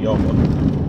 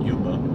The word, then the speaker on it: Yoma: 71b in Yoma. We pronounce it Yuma.